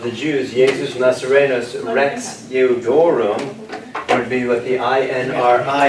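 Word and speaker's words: Iudaeorum: Jesus Nazarenus Rex Eudorum. Eudorum. Okay, So you get the L 200 is of Jews. silent now. Right. The L is silent, Eudorum. Now this is an I.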